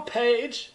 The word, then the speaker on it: Phaige: My name is Phil Page. The H is silent in Page, and I've been a wig master for 37 years.